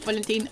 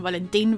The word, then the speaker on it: Valentín: Also, I'm just realizing I'm calling him Valentin, very Latin American pronunciation.